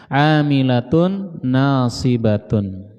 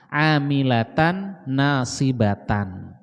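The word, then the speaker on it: عاملة ناصبة: Amilatun nasibatun. Ada juga ulama yang membacanya tidak dhammah, tapi dibacanya fathah, amilatan nasibatan.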